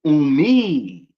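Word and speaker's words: أمي: But when you making it possessive to you, like your own mother, you put the E sound at the end, right? So you wouldn't just say you say umi.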